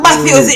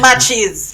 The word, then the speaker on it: Matthews: So Matches, sorry. So Matthews it name, not Matches.